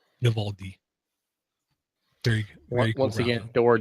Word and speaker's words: Vivaldi: And for those audio listeners, Vivaldi, Vivaldi. Very cool. Once again, Door doesn't give himself enough credit for correctly pronouncing something.